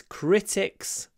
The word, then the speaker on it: critics: The stress is always at the start. I think criticize, criticism, critics. Always on the first syllable. That means always crit. Open your mouth. Criticize, criticism, critics. Not cri, cri, cri.